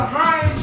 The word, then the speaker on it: Hinds: I want to give a shout out to Heinz Chauffeur. That's HINDS Chauffeur. Or for those who pronounce it, chauffeur.